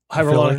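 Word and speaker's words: hyaluronic: You know the thing about uh hyonolaric how do you pronounce it Joe? the hyrolonic acid.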